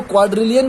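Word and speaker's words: quadrillion: क्वाड्रिलियन, pronunciation इसका ध्यान रखिएगा, इसको क्वाड्रिलियन बोलते हैं।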